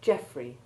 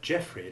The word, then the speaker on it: Geoffrey: Then there is the stressed EO combination in the name Geoffrey and its abbreviation Jeff, which have the short E1 sound, while in people the sound is that of long E1.